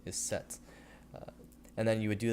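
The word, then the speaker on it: sept: So the first word would be 7 in English, the French word is set, and the pronunciation is set.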